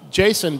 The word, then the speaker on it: JSON: I named it with Jason because it was JavaScript object notation and you could pronounce it like it was somebody's name and Doug runs off